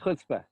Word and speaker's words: chutzpah: whole point of like chutzpah. I don't know if I'm saying it correctly. You got it, but you got to get that stronger Chutzpah.